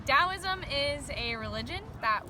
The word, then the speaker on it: Taoism: I've heard it before I know it's spelled with a t instead of a d which is kind of funny CU it sounds like you know T's usually don't sound like D's no idea what DSM